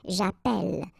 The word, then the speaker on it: j'appelle: in the previous video, if you have, you know, double L like that, it will affect the pronunciation of the so actually it will open the sound, and that's the reason why you will get the sound eh, okay?